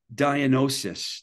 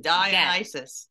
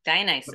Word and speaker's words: Dionysus: which is your label, and I'm going to try and say it, Dionysus. I fucked it up again. Try again. Dionysus. Dionysus.